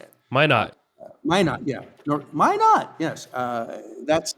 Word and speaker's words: Minot: I was in North Dakota yesterday, in Minot, North Dakota, or Minot, I don't know how to say it. Minot.